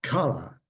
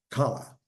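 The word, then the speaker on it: כלה: The bride is called kala, K-A-L-L-A-H, kala. Even though it's similar, challah, kala. One spits, the other one doesn't.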